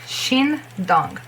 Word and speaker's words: Shindong: Okay, and what I was talk about is SH, which is pronounced as sh. SH is sh and not s, because there is the same was in like what was in song, yes, song's name. But if there is an E after it, you have to pronounce she, not C. Saw, she. That's the difference. So you are pronouncing she. Okay? Not he, she.